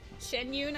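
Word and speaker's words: Xianyun: Shen Yune, I think her name is actually pronounced.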